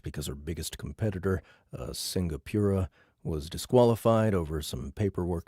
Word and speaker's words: Singapura: best-in-show cat pageant because her biggest competitor, a Singapura, was disqualified over some paperwork dispute.